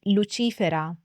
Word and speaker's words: Lucifera: I should also add the correct pronunciation in Latin would be lerus for the male and luifer for the female this would be the